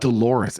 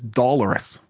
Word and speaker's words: doloris: with his do doloris it's not Dolores it's dollarus what does dollarus even